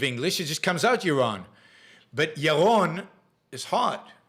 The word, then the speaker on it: Yaron: Even Yaron mispronounces his name. That's true. It's absolutely true. Because my name is Yaron. My name is Yaron.